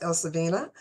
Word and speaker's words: Elsewine: again her first name even though it looks like Els wine it's pronounced Elina so it's e l